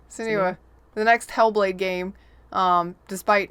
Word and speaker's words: Senua: Okay, how do you say the name? Senua. Every time I say it, I'm wrong. So Sinew? Yeah, Senua.